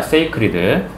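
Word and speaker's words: sacred: SCED 아니야. SA야. 발음으로 구분하세요. scared가 아니라 세이크 신성한 것으로서 관련되어 왔습니다.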